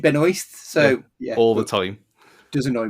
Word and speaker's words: Benoist: name properly though because it's benoir not Ben but she does pronounce it Ben oist so yeah time does